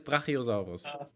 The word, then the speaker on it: Brachiosaurus: I pronounce it German. In German, it's Brachiosaurus. I quite like that.